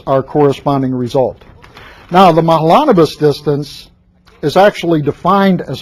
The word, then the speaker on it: Mahalanobis: india in here okay i always check on the pronunciation i think i remember this being the correct pronunciation from last year mahalanobis now this is the